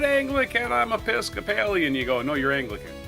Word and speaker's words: Episcopalian: I got Episcopalian. Yeah. If you see an American, he says, "I'm not Anglican. I'm Episcopalian."